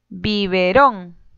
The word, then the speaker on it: Biberón: Biberón. Bi-be-rón. Sílaba tónica, ron.